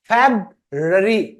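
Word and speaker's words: February: जनवरी फिर इसको क्या बोलते हैं फरवरी फरवरी फेबरी फेबरी तो यह लास्ट में ना ये फेबरी ठीक है फेबरी फिर यह आर साइलेंट है यह बनता है मार्च माच जैसे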